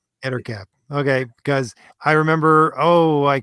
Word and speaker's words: Ettercap: How do you pronounce this character's name? Where are we? Monsters. Oh, the Ettercap? Yes. Ettercap. Ettercap.